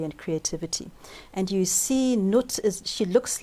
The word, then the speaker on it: Nut: The first one is Nut. Nut. How do you spell that?